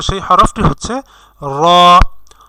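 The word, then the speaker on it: ر: আমরা যখন র উচ্চারণ করব তখন আমাদের মুখের মধ্যে একটা ভাইব্রেশনের সৃষ্টি হবে। তো যখন ভাইব্রেশনের সৃষ্টি হবে তখনই আপনি বুঝবেন যে আপনার হরফ উচ্চারণটি শুদ্ধ হচ্ছে। আর র উচ্চারণ করার ক্ষেত্রে অবশ্যই রটি একটু মোটা হবে, মোটা করে উচ্চারণ করতে হবে।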